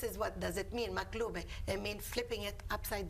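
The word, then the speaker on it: مقلوبة: We call it maklube. Oh, how do you pronounce it? Maklube. Maklube.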